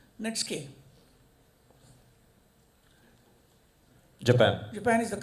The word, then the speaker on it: Netsuke: Spell it as Netsuke, pronounced netske.